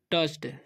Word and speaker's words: touch: है, every thing he टच्ड, इसे पढ़ेंगे हम टच्ड, ठीक है। TOUCH से टच होता है, ये ओ यू का चलन अ हो रहा है, ठीक है।